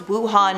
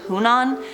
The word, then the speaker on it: Wuhan: But he got the coronavirus province name wrong, it's Wuhan, not Hunan.